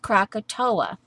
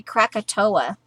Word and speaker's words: Krakatoa: off like katoa pronounced Krakatoa okay okay so it's like rushing into a fiery Krakatoa okay it spelled differently but you pronounce it crack - a - toe - a Krakatoa Bubba shot the jukebox